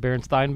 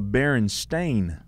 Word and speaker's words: Berenstain: you think it is it would be Berenstain Bears say that again is it Berenstein Bears no so Berry I don't know what it is now let me look it up it's the barren stain Bears I said Bernstein right